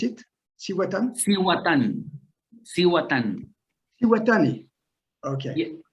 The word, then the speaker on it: Cihuatan: How do you pronounce it? Cihuatan? Cihuatan. Okay. Yeah, Cihuatan.